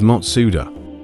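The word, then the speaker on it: マツダ: It's pronounced as Matsuda, which happens to be the same pronunciation as the founder's name, Jujiro Matsuda.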